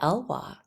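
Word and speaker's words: Elwha: forests and orca whales how do you say the name of that River El River the elwa the elwa okay I realize very quickly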